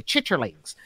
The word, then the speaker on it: chitterlings: ain't gonna call my chitlins because those things chitterlings are the like because this is how so i got i mean obviously it's spelled chit charlies that's how chitlins is spelled right right but i